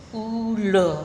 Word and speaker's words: ula: pula tulisannya u l a g l disini pengucapannya lebih ditekankan tebal jadinya Pulo Hai yang artinya ular Hai kemudian ada contoh